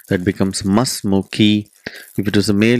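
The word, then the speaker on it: ما اسمكِ: Because it is hamzatul wasl, we don't pronounce the sound. That becomes masmuki.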